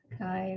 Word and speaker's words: CHI: of you it's like so many people don't know that Kai is pronounced Kai right like you have to